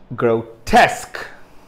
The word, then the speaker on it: grotesque: going to be uh stressed or the second syllable is going to be stressed now observe grotesque grotesque i repeat grotesque grotesque okay let me